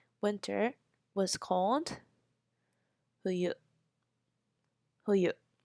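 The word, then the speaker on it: 冬: key uh Ki Aki winter we say who you who you who you now that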